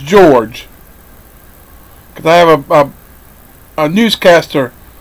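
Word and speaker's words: Jorge: He writes, a short story by Argentine writer George Luis Borges, and his name is spelled J-O-R-J-E-G-E, George, and it's pronounced George, because I have a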